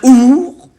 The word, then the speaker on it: ours: y a une faute, on ne doit pas prononcer le S de ours. Certains ours, montagnards, ours à demi léché.